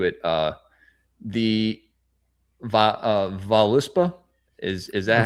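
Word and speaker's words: Völuspá: Uh, the va uh, Valispa, is is that how you say it? The Volispa.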